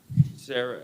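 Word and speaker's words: Serra: yep okay your name sierra sarah how do you say it sarah s-e-r-r-a okay all right so you have a new case in division 14.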